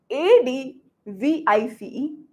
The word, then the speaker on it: advice: v i c e a d v i s e reference advice is a z advice advise correct I hope you're getting my pronunciation right the advice it's a noun advice is a noun a piece of advice